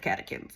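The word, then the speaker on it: catechin: it has antioxidants called kakin or kachins I think it's kakin it's spelled chins but it's kakin and this um and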